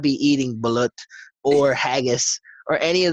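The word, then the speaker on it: balut: bullet you mean yeah it's pronounced bullet now she doesn't she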